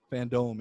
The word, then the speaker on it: FanDome: Wait, how's it pronounced? Fandome? DC Fandome. Fandome, yeah.